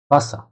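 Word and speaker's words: Wasser: ভে যেটা, ভে দিয়ে হলো ভে, আ, এস, এস, এ ইয়া ভাষা।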